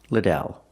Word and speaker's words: Liddell: you pronounce your last name I answer it's pronounced Liddell let's practice how do you pronounce your last